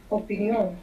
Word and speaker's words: opinión: Just in Spanish they have the accent on the end.